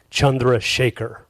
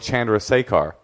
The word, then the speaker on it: Chandrasekhar: play in uh in India the name is pronounced chundra Shaker is that true yeah Chandra Shaker Chandra Shaker how do you been there decide to go with Chandra sear it easy well you you seem like a